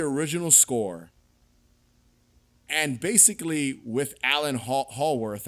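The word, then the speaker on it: Alan Howarth: But this was John Carpenter taking the original score and basically with Alan Hallworth, I believe is how you pronounce his last name, fully producing the music for a Halloween film.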